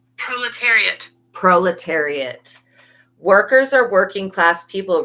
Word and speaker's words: proletariat: Let me turn up the volume so you can hear what it's how it's actually pronounced. Proletariat.